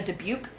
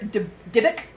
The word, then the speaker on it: dybbuk: movie that it was, there's 3 ways to pronounce this, so I'm just going to pronounce it one and stick with it. Mm-hmm. A debuke. Okay. Was my first theory. Dybbuk.